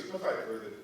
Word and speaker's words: Pfeiffer: Actually, it was Pfeiffer, the P is silent.